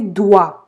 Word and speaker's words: doigts: Sous ses doigts. Эти все 3 буквы не произносятся.